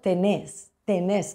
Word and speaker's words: tenés: Nosotros vamos a poner en España, tú tienes, y allí van a escribir tenés, con acento en la E.